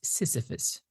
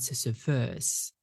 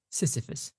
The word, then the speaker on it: Sisyphus: The pronunciation of this character is Sisyphus, right? Not Sisyphus. Sisyphus, because the stress falls on the first syllable.